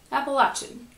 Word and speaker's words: Appalachian: live in the Appalachian Mountains and yes it's pronounced Appalachian and I live in a rural area and